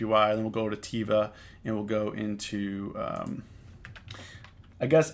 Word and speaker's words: Teva: then we'll go to Teva and we'll go into I guess I guess I guess it's not pronounced Eva it's pronounced Ewa tefa it's an Israeli company